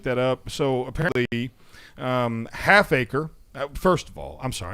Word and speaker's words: Halfacre: yeah is what he said his name Malik Halfacre not whole acre not a quarter acre Halfacre